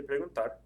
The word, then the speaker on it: preguntar: Think about how you say preguntar. Preguntar, preguntar. The stress is over the AR again.